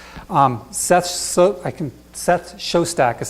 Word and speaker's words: Shostak: incredible amounts channels sets so I can set Shostak as how you pronounce his name he's kind of the head